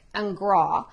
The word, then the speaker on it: Ingres: artist that he studied that is jean dominic and grah um and i might have messed up my french right there but it's spelled i-n-g-r-e-s is his last name told day